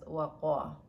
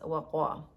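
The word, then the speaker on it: وقى: So this one is waqa. It's read as waqa. But the root is waw, qaf, and ya, but it's pronounced as waqa.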